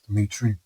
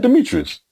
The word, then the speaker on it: Dmitri: Now is it Demetrius or is it Dmitri? Ditri. Dmitri. So I've always said it wrong.